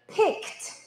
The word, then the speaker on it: picked: 我们这边在发音的时候呢，注意一下我们的 ed 的发音，有2种 ed 的发音哦。一个是跟我一起念 picked，一个是 pickled。我们后面的这个 ed 它发2个不一样的音，一个 picked。它听起来像是 T 的发音，另外一个 pickled 听起来就像是 D 的发音，OK？